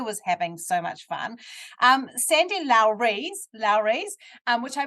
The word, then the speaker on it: Sandy Lowres: Sandy Lowres, which I mispronounced in the introduction, so that's how you meant to pronounce her name, by the way.